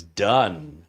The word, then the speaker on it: Dunn: Trevor says his last name is pronounced as Dunn, not Dune.